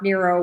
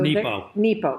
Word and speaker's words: Nepo: Mark Nero was fighting cancer when he wrote this. And it's beautiful. So Nepo. Mark Nepo.